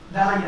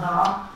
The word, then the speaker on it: Daraya: We went in the streets of my hometown, Daraya, which is 4 kilometers outside Damascus. Daraya, not Daraa. Daraya, just around Damascus.